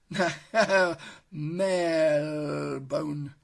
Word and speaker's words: Marylebone: The correct pronunciation, I've been informed, on good advice, is Marylebone. And the reason it's called that is because Mary is St. Mary's Church, and Bone is actually an anglicisation of Bourne, which is an old name for a river.